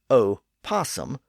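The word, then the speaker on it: opossum: But when pronounced in English, the O was pronounced as a completely separate syllable as opposum rather than opum. That left the O sounding out at the front, which was apparently awkward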